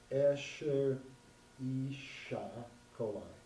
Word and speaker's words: Escherichia coli: Oh, it says pronounced Escherichia coli.